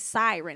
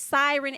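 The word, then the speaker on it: Siryn: on them okay and it's siren as in PS i r y n I believe that's how you say it but they can sing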